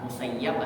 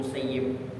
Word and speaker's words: Musayyib: Makanya ulama-ulama hadis ini mereka boleh dua, musayyab atau musayyib. Tapi daripada dapat doa dari Sa'id bin Musayyib, kalau dia mensayyabkan abahnya, menjadikan tawanan atau mentelantarkan ayahnya, maka dia akan ditelantarkan oleh Allah.